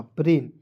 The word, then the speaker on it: brain: जैसे एग्जाम्पल यहाँ पे समझिएगा थोड़ा ध्यान से, BRAIN, तो ब्राइन नहीं पढ़ेंगे, इसे BR को ब्र पढ़ना है। AI है तो एक एक ले लगाइए और N का लिख दीजिए ना, ब्रेन, BRAIN, ब्रेन, ठीक है, समझ गए।